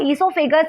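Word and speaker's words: oesophagus: को क्या कहते हैं इसके स्पेलिंग ओ से स्टार्ट होती है इसका नाम क्या आइसो फिगर्स अब ऐसोफागस एक मस्कुलर अंग होता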